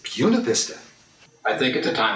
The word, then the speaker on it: Buena Vista: i can speak spanish and i know that b-u-n-a-b-i-s-t-a is buena vista and he said phil it is everywhere else but in virginia here it's puna vista i think at the